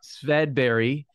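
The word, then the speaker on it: Swedberg: His name was Swedenborg, or I think as you'd pronounce it in Swedish, Swedberry.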